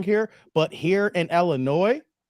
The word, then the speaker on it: Illinois: here but here in Illinois not noise Illinois the S is silent that I come across